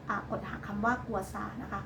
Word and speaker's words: กัวซา: นะ คะ ใช้ อ่า กด หา คำ ว่า กัวซา นะ คะ ก็ จะ มี วิธี ี การ